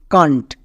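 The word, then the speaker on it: can't: তাহলে এই শব্দের উচ্চারণটা কি? কান্ট, কান্ট। একে আমরা আবার ক্যান নট বলবো না, একসঙ্গে উচ্চারণ করব কান্ট।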